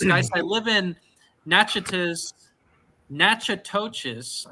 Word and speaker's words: Natchitoches: I live in Natchitoches nachatoches I think is how you say that Louisiana is it not